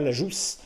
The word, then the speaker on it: Lajousse: a demandé à Nicolas Lajousse, parce qu'il faut prononcer le S, puisque c'est le Gers, donc de Séjour Chasse, de venir nous parler, nous initier à la chasse à l'approche.